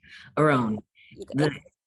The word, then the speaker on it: Arawn: Arawn. You go, The okay, the emphasis on the second syllable.